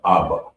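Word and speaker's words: אבא: So we're gonna go to the next word, which is father, and it's pronounced Abba.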